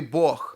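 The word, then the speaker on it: Бог: russian ukrainian is that in russian the hard g is pronounced as a g and in ukrainian is pronounced as an h so in the words like god or borg in ukrainian would be boch and so you see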